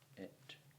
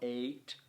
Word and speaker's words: et: It's still pronounced et, not eight, but it's scanning as a long syllable.